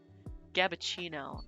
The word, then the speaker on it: Gabbuccino: But it's Gabrielle mixed with Frappuccino, so it's Gabbuccino.